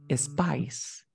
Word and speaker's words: spice: Space rack, no. The correct pronunciation is spice. Spice. ¿Qué es una spice? Spice son las especias, los condimentos. ¿Ok? Y tenemos un spice rack. ¿Te das cuenta que la pronunciación es bien interesante y muy importante porque no es lo mismo decir space o spice rack?